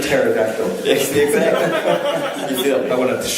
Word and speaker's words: pterodactyl: The P is silent. I want a T-shirt. T-shirt. It's like pterodactyl.